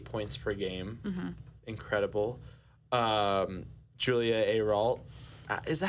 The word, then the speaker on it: Ayrault: Julia Ayrault, is that how you pronounce her name?